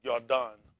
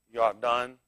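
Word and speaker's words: Yarden: I think it's Yardan. Yardan is the pronounce. It's the pronounce. How do you spell it? Y-A-R-D-A-N. Y-A-R-D-A-N is the proper spelling for it.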